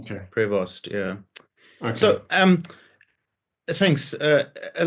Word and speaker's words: Prevost: As far as I can make out, it's Prevost. Prevost, right? Okay. Prevost, yeah.